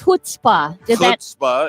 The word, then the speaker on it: chutzpah: z p a h starts with a c h but pronounced like you're getting something out of your throat in the jewish side